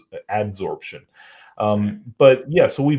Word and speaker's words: adsorption: we can do it through absorption not absorption I've learned that I was saying it wrong for a long time but uh desicant dehumidifiers use the um the principle of ad adsorption um but yeah so